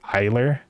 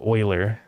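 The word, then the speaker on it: Euler: Like it's It looks like it's supposed to be pronounced like eer, but it's like oiler.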